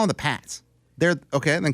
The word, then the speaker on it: Pats: you can't be both p a TS Pats it's Pats it's spelled the Pats that's the Pates how do we get